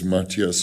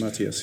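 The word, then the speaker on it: Matthias: corre correctly pronouncing his he doesn't mind how you say it but it's mattius mattius yeah yeah who's somebody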